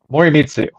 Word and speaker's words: Morimitsu: Morimitsu. Morimitsu. I very rarely pronounce my own name right.